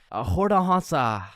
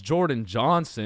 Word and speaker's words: Jordan Johnson: Um Hordah Hansa. Is uh is Hordon Hansa here? Okay. Uh I mean my name is Jordan Johnson.